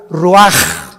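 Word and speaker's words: ruach: capítulo y exhaló Isaac el Roach así como suena se pronuncia la c en hebreo como J ruaj se le só y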